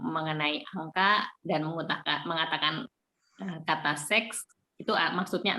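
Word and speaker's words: sechs: Angka 6 ini dalam bahasa Jerman itu seks. Jadi si CH-nya ini dibaca seperti H, seks.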